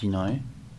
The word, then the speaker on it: Hinoi: So yeah, so we have Yinoi, pronounced Yinoi, but is here. It's spelled Hinoi.